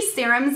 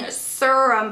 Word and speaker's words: serum: so I have three serums in here I was corrected by you guys it's serum I was saying sirum before but serum is the proper way to say it so I have um